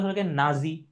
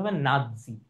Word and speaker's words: নাৎসি: সহজ উচ্চারণ করলে হলো গিয়ে নাজি, কাজীর মতো নাজি, কিন্তু আসলে এটা নাজি না। এটার উচ্চারণ কি? এটার উচ্চারণ হবে নাৎসি।